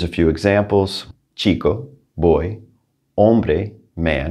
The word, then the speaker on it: hombre: few examples chico boy hombre man remember h is silent parque park now i